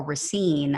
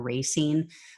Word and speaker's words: Racine: general in dc uh carl racine i believe is how you pronounce his name or racine announced that he his